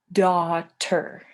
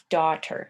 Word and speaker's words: daughter: word is daughter so this part right here this a-u-g-h it's pronounced ah daughter daughter and that's a child